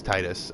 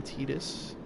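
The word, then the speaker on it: Tidus: There's actually a couple different pronunciations for it. Um, I believe in Dissadilla on the English version they called him Tetus, but I, you know,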